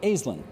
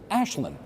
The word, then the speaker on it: Aislinn: like almost everybody does, because it's spelled A-I-S. Yes. L-I-N-N, but you do not pronounce it Aislinn. You pronounce it Aislinn.